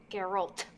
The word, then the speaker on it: Geralt: his name i don't want to pronounce his name wrong garrett of Rivia garrett gear what Darrell over it Carol Carol Geralt yeah I told you watch it with subtitles